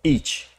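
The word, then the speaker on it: אִישׁ: un término que eh se pronuncia como ich los ich y los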